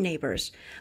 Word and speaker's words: neighbors: Và neighbors này thì chữ sờ này cũng nên đọc là z.